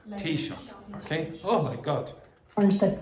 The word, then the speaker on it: Taoiseach: If the US pushes ahead with the levies, the Taoiseach has warned. So think of it like cup of tea and shock. Okay? Tea shock. Tea shock.